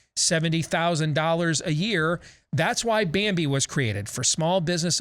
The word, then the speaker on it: Bambee: That's why Bambi was created, for small business owners just like you. BAMBEE. That's how you spell it. BAM and B, just like it sounds.